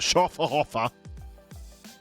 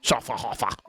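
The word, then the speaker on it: Schöfferhofer: having a lovely day have you had a Sher haer I think I pronounced that correctly you have to shout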